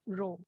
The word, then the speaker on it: rho: density times body okay this symbol is pronounced as row i will show you